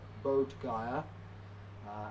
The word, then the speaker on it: Bodh Gaya: You may have heard of it, it's pronounced differently in all different countries, but Bodh Gaya, as in Bodh, Buddha, and Bodhi tree, and Gaya is kind